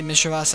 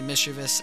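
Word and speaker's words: Misdreavus: Yeah, some people say Misas, others say Mischievous. I say both.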